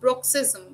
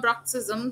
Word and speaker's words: bruxism: responsible for this now broxism broxism or brexism though both are correct in pronunciation it is excessive grinding